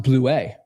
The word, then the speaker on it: Blewett: Blewettt. It is ETT. Come on, you've been here for too long. It's not ITT. It's ETT. Technically, it's supposed to be pronounced Bleuet because it's French, I believe.